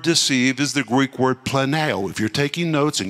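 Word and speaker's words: πλανάω: and this word deceived is the Greek word Plano if you're taking notes in your students so you should you would spell it p-l-a-n-a-o the Greek word Plano this word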